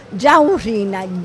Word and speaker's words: ciaurrina: Va bene signora, allora noi la ringraziamo per averci parlato di questo dolce, ricordiamo il nome perché appunto bisogna anche saperlo pronunciare. Giaurrina.